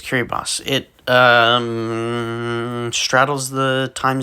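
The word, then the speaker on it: Kiribati: place there's Poland Cameroon kiribos I think yes people really do pronounce it that way despite the spelling there's Curry boss it um straddles the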